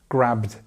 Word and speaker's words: grabbed: So it's grabbed, grabbed. And you can see there's no vowel sound in between. You've got a bit of voice on the d, of course, because that's the nature of that sound. The t, d, remember the t is without the voice and d with the voice. But when you're saying it together with another consonant here, then it's bd, bd. So you don't have this middle part like id, for example.